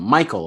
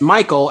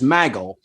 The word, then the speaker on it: Michael: by Matt pointing out how JBL pronounced Michael as Maggle.